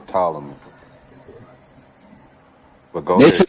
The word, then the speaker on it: Ptolemy: Don't say the P. The P is silent. It's Ptolemy.